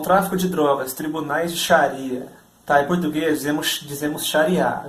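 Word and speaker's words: Xariá: A grafia em português correta, mais próxima da pronúncia original do árabe é Sharia, X-A-R-I-A, acento agudo, tá?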